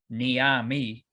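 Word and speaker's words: Neame: We are both under the assumption that Griffin Niami, that's how you pronounce his name. You mean it's not Griffin Neem?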